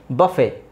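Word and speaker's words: buffet: ಇಲ್ಲಿ ಎರಡನ್ನು ಸೈಲೆಂಟ್ ಮಾಡಬಹುದು just say ರಾಪೋರ್ wrapper ಬಫೆ debut ವ್ಯಾಲೆ asthma listen ಫಾಸನ್ ಎಲ್ಲಾ ಕನ್ನಡದಲ್ಲಿ ಸ್ಪಷ್ಟವಾಗಿ ಬರೆದಿದ್ದೀನಿ ನೀವು ಹಾಗೆ ಉಚ್ಚಾರಣೆ ಮಾಡಬೇಕು ಸಾಫನ್ ಸಾಫನ್ ಅಲ್ಲ ಸಾಫನ್ ಮೊಯ್ಸನ್ ಮೊಯ್ಸನ್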